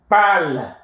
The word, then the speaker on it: parles: Tu parles. The S is also silent. It's pronounced the same way as parle here.